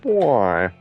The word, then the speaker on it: buoy: on top of them it's called boy it's spelled b uo y um I think that's